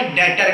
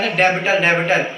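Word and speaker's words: debtor: बेटा आपको ध्यान होगा मैंने करंट एसेट में एक एग्जांपल दिया था डेटर का, जिसमें क्या था? डेबिटर नहीं बोलते उसे, बी साइलेंट होता है, डेटर बोलते हैं।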